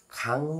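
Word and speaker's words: 강: फेरि तलमुनि जुनेको ङ यो ङ लाई चाहिँ हामीले आडा ङ गर्नुपर्छ फलस्वरूप हामीले उच्चारण गर्दा ख मा आ खा अनि आदि ङ खान कसरी खान भन्नु पर्यो खाङ भन्नु पर्यो कसरी खाङ खाङ भनेको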